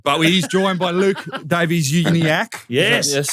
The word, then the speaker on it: Davies-Uniacke: But he's joined by Luke Davies-Uniacke. Yes. Yes, is that how I pronounce it?